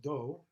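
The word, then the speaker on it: 도: But here it's a different do, a different character pronounced the same. And it just means way. It's Dao. It's the word Dao, way. So that's how we pronounce Dao in Korean, Do.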